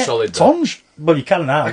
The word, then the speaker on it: Tonge: Tonge.